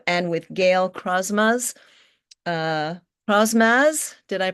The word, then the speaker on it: Crosmaz: Uh, Crosmaz, did I pronounce that correctly?